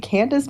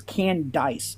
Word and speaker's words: Candice: Candace making these assumptions is wild. No, you're mispronouncing it. It's not Candace. It's Candice. It's Candice.